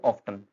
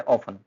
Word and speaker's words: often: Mostly जो है क्या बोल देते हैं हम इसको, ऑफ्टन, बिकॉज OFTEN, जबकि इसका जो करेक्ट प्रोनाउंसिएशन है वो क्या है, ऑफन। इसमें टी साइलेंट रहता है और मीनिंग होता है इसका अक्सर।